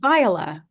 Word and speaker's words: Viola: It's Viola. It's a long I emphasis on the first syllable. Yeah. Viola.